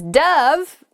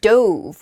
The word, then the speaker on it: dove: all right next is dove dove can be a bird it's a white bird it often represents peace and it can also be pronounced douve which is the past tense of the verb to dive so you might say